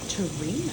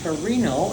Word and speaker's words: Torino: repeated that's good um yes it was Torino Torino Torino and the English pronunciation is Teran and Teran New York was